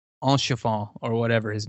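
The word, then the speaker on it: Haurchefant: But I loved, and I always butcher his name, Enchefant, or whatever his name is, Enchefant. Yeah. It starts with an H, and you don't pronounce it, and ends with I love his voice, and I love Almeric's voice.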